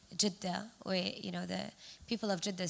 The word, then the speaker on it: Jeddah: There are 3 ways to say Jeddah, or, the people of Jeddah say Jeddah, but then there's Jeddah, and there's Jeddah, and there's Jeddah. So there are 3 ways to pronounce this city.